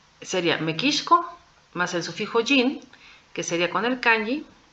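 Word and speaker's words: 人: mexicanos o mexicanas Sería mequis más el sufijo jin que sería con el kanji y aquí el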